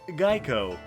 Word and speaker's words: Geiko: In Kyoto, they were called Gaiko. Yeah. Guess though. Please tell me it's not pronounced like Geico. It was actually pronounced like Geico.